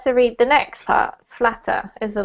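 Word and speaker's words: Flattr: I believe that it's pronounced flatter simply because it comes from the word to flatter in English.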